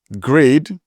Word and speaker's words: GREYD: Then I've seen lots of cases where people are pronouncing grade which is a block editor which is spelled G R E Y D.